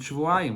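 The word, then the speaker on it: שבועיים: Even though it says in the Torah, Shavuayim without a vav, and you can read it Shivim as 70, but we don't go by the way it's written, by the Messiah of the way it's written. We go by the Mikra, the way we're supposed to pronounce it, the vowels of the word. And therefore you read it Shavuayim, which means 2 weeks.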